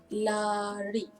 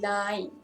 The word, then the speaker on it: lain: Eighth example is lari, lari, which means run. And then lain. This is very difficult for foreigner when they try to spell. They often pronounce it wrong. Often say la. It's actually lain, lain, which means different.